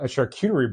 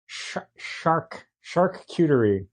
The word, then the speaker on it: charcuterie: Oh my God, just like a charcuterie board of ideas. How do you say that? Charcuterie. You gotta put the shark into it, right?